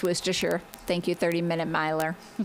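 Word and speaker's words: Worcestershire: Worooersher pronounced worstershure.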